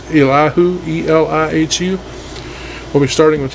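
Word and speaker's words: Elihu: know so next week we'll be starting with allahu ah i'm sorry if i'm pronouncing that wrong if you were able to pronounce it right and i come not but it's illahu e-l-i-h-u we'll be starting with his like i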